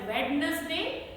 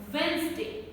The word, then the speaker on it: Wednesday: another common word wednesday now many non-native speakers of english language will mispronounce this word as wednesday the correct one is wednesday wednesday this d is not nouns this is silent then edge edge bridge